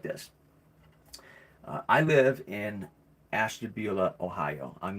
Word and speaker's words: Ashtabula: I live in Ashtabula, Ohio.